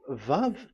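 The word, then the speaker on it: וו: So the word, the shape Vav is really pronounced V, like Vogue.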